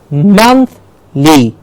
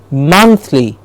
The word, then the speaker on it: monthly: Monthly. You see the difference in high and low pitch? Monthly. It's not monthly, it's monthly.